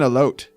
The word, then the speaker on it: elote: What's an elote? Oh my god. I'm crying? An elote? Is that how you pronounce it?